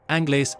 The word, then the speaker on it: Anglais: In French, the terminal S is silent, making Anglais phonetically close to Anguli.